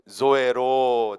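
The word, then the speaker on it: ζωή: 여기서 이 조에는 이 영어 Z 발음을 사용하셔야 됩니다. 그래서 나의 모든 것이 조에로 한번 따라해 봅니다.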